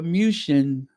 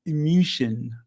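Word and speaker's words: München: musan yes Venia or musan I'm going to say it like they do in the native countries uh Venia and musan but yeah it is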